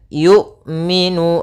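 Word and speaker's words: يؤمنون: tertahan dan nafasnya tertahan kemudian yumminu hati-hati jangan sampai terbaca dengan y Jangan dibaca dengan Ain sering juga terjadi kesalahan adalah membacanya dengan Ain Bagaimana cara melafalkan Hamzah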